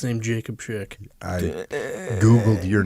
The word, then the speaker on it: Schick: is at Jacob_Schick, which is spelled like S Chick. In case anyone Always say Schick like the razor, no relation.